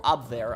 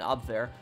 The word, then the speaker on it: Abwehr: The thing about Abwehr is, or Abwehr, I think that's how you pronounce it in German, Abwehr.